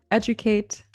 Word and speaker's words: educate: D does sound like j sometimes when it occurs in the middle of a word in a non-stressed syllable. For example, in the words graduate, individual, educate, it makes the j sound.